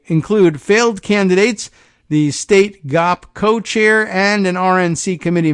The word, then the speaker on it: Ngo: but uh weirdo semi-journalist ND how does he pronounce his last name go NGO uh you may know him as Internet